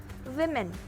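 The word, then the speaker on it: women: इसमें बहुत से लोग कंफ्यूज हो जाते हैं, पर आपको कंफ्यूज नहीं होना है, क्योंकि इसका सही प्रोनाउंसिएशन होता है विमेन।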